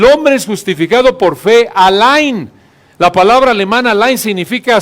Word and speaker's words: allein: El gran reformador del siglo XVI, Martín Lutero, tradujo este versículo buscando expresar esta idea y añadió la palabra alemana allein. Así se pronuncia, ¿verdad, Werner?